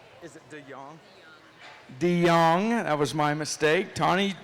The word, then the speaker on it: De Jong: Did I pronounce that right? Is it De Jong? De Jong, that was my mistake.